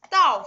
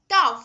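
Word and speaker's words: 倒: Okay, this Dao, the pronunciation of this Dao is similar to this one.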